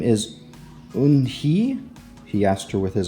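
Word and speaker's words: Unhei: "Your name is Eun-hee?" he asked her with his eyes open wide. Yunhai looked quickly at Mr. Kim, then turned to Joey. She nodded slowly. "Yes, it's pronounced Yoon-hai.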